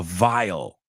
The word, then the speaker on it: vial: There was a vile stench coming from the vial. They are homophones.